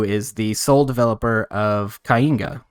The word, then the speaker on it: Kainga: I'm here with Breezy, who is the sole developer of Kainga, right? That's how you pronounce it?